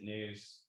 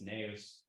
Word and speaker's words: Neus: She was like, hey, my name isn't News, it's Neus.